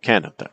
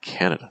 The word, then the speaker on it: Canada: So it's not Canada, Canada, Canada, not the pattern. Or Canada. No, it's Canada.